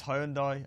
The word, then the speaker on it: Hyundai: 현대 발음이 안 되니 왜 후한다이라고 그래? Get across on the advert. It's Hyundai, and I'm sorry everyone.